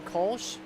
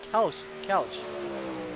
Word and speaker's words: Kelch: We got Deanna Stevenson in chat rooting for Benjamin Kolsch, or Benjamin Kelch. Thank you for the heads up there. I've been saying it wrong all this time.